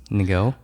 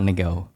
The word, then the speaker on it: Ngo: yeah, about my last name is they just explain it exactly like Ngo. Ngo. Yeah. But it's not Ngo. It's if you pronounce it properly in Vietnamese enunciation, it's Ngo. No. It's like, do you know when you say the word song Song.